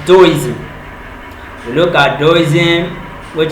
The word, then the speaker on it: Taoism: We also looked at Taoism, that you might want to pronounce as Taoism, Taoism, but the right pronunciation is Taoism.